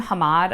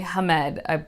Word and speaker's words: Hamed: introduced to Hamed, and I kept calling him Hamad, I think, in my last video where I was talking about Haunting of Tramcar 015, but it's definitely Hamed, but there's an E, not an A.